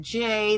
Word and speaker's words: Jaye: by making my name j that no one thinks is a real name but it's just like the bird in the sky j a y added silent E because I'm a girl